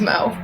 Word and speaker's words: Mo: look like an Amanda it rhymes with go wo my name's Mo oh hey look there's